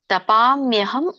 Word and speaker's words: ತಪಾಮ್ಯಹಂ: ಇದ್ರ ಒಂದು ಉಚ್ಚಾರಣೆ ಈ ತರ ಬರುತ್ತೆ. ತಪಾಮ್ಯಹಂ ಅಹಂ. ತಪಾಮ್ಯಹಂ ಅಹಂ. ತಪಾಮ್ಯ ಹಂ ಹಂ ಅಂತ ಇದೆಯಲ್ಲ, ತಪಾಮ್ಯಹಂ ಅಹಂ ಅಂತ ಬರುತ್ತೆ. ಇಲ್ಲಿ ತಪಾಮಿ, ತಪಾಮ್ಯ ಇದನ್ನ ಬಿಡಿಸಿದಾಗ ತಪಾಮಿ ಅಂತ ಬರುತ್ತೆ.